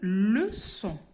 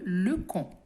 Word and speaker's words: leçon: Alors, une leçon, regardez les enfants, une leçon s'écrit avec un C qui porte une cédille. Une leçon. Si on enlève la cédille, nous aurons une lecon.